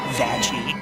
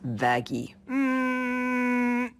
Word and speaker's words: Vaggie: It's why I named you after the best thing ever, Vagie. Actually, it's pronounced vagy.